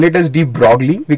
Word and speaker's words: de Broglie: But we don't spell it as de Broglie, we call it de Broglie.